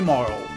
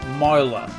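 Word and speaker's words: Marle: We Please call me Marl or Mara. If you look at that, I think it's Maru. So Marl is I'm assuming the more appropriate pronunciation, but I like Mara, so please call me Mara.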